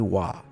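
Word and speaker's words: Roy: For clarity's sake, the last name Waugh is spelled R-O-Y, and I'm making an educated guess at the pronunciation based on the great NHL goalie Patrick Waugh back in the 90s.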